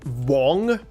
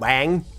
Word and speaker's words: Wang: Uh but um on on Discord I got told that the name is supposed to be pronounced more like Wong, like an O in there instead of Wang, which is funny.